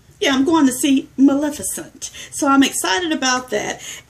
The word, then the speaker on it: Maleficent: And I just learned how to say it because Maleficent.